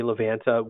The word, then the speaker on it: Livanta: Google Play Store and search for the word Livanta. That's Livanta, Livanta. And in case you were wondering, we say Livanta.